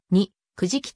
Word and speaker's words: 肉食: 著しい原子分教仏教では肉食を肉食と読む原始仏教では